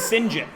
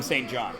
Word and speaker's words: St. John: a French name but it's spelt English but pronounced French because my son's name is that but it's pronounced Sinjin because it's a French name no his name is Sinjin yeah everybody calls him st.